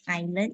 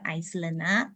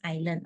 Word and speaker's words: island: Okay, we pronounce it island instead of Iceland. Okay, let me type out. Hang on. Okay, this one. So this one we pronounce as island.